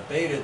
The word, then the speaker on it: beta: And then here's the azimuthal dial and the beta dial. The beta rhymes with theta, the alpha is the azimuth.